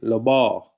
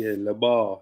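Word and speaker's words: לבב: This is like a bit of pronunciation. Labar. Strong's H3824. Levav. Levav. It should be labar, labar.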